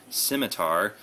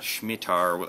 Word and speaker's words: Scimitar: comes with is the M27 Scimitar not shmar as I said before I'm kind of an